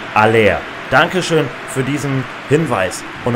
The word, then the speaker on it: Haller: Unser Stürmer wird nicht Haller ausgesprochen, sondern Aller.